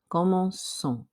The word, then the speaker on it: commençons: Remember that verbs ending in CER use c'est se dire in the new form to keep the soft C sound. Therefore, your answer is C. Commençons.